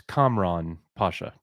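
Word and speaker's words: Kamran Pasha: you said it correctly it's it's uh it's Camron Pasha the comrad yeah he's a very smart fella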